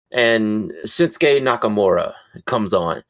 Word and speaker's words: Shinsuke: If you hear them say it in Japanese when he's wrestling in Japan, they pronounce out the vowels like really well. It's like Shinsuke, you know? But in American, we're like, no, his name is Shinsuke. Well, where did all the vowels go?